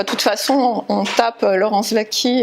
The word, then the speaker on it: Waki: Enfin, de toute façon, on tape Laurence Vaquie, et donc W-A-K-I, un W qui se prononce V.